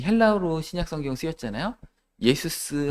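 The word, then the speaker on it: Ἰησοῦς: 하나님이 구원하신다는 여호수아가 더 광범위한 뜻인데 그 헬라어로 발음할 때는 똑같아요. 예수스입니다.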